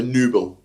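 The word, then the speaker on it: Nübel: Nubel, you just got the umlauts above the U. I don't know if that means you pronounce the U. Just elongated the U a bit, so Nubel.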